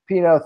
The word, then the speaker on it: Pineault: So it's and I was going to mispronounce it, but the Pineault or the Pineault is basically how you said it. So I had a different pronunciation. So Pineault, thank you for joining us.